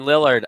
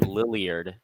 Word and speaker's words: Lillard: Number 6, Damian Lillard. I had him on my fantasy team and he popped off. And I didn't know how to say his name at first. I called him Lilliard. I remember this.